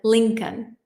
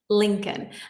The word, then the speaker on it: Lincoln: The L in Lincoln, the second L, is silent. Lincoln. Lincoln.